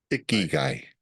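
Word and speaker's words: 生き甲斐: Ikigai.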